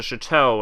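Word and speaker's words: château: Thornton staked out the chateau agent Thornton that's pronounced Chateau age and Thornton identified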